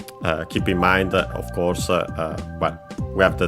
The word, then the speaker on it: を: Then we have again sette, so all sound settings, the setting of the sound, literally. Then we have the object particle o, written as wo and pronounced as such in careful speech and also singing.